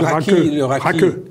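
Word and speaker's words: rakı: Mais est-ce que c'est le raki? Oui, c'est ça. Raki. Oui, parce que le i se prononce.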